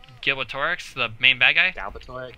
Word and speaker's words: Galbatorix: goes back and says, Gilbertorix, he was, like, I butchered that name, probably. What name? Gilbertorix, the main bad guy? Galbatorix? Galbatorix. It's not Gil, it's Gal.